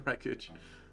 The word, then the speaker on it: wreckage: the right package wait don't pronounce the w in the wreckage zobra cage with that